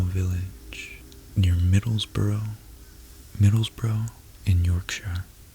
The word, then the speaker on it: Yorkshire: near Middlesbrough Middlesbrough in Yorkshire Yorkshire and I you Brits say that your chair your chair his father was a